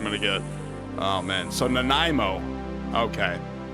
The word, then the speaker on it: Nanaimo: Nanaimo. Oh, Nanaimo. Okay, so Nanaimo. Nanaimo. I hope that's not copyrighted. I swear to fucking God, if that's copyrighted, I'm gonna get... Oh, man. So Nanaimo.